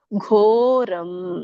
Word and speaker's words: ಘೋರಂ: ಘೋರಂ ದೊಡ್ಡ ಘ ಇದೆ, ಗ ಅಲ್ಲ ಘ.